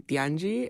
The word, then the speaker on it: Tianyi: so my name is tii um you can say however you want in Spanish it's actually Tangi and in Chinese it's so you can literally call me whatever you want um I'm currently double